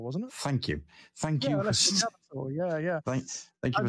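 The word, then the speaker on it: Alessio Cavatore: Yeah, Alessio Cavator, yeah.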